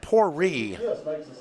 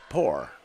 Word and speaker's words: Pourri: Esteban and Pourri on the stop. And I will tell the stadium announcer that Zeke's name happens to be Pourri and not Poor.